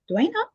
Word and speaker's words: Duana: Duana Welch, pronounced Duana, is known for writing and dating coaching that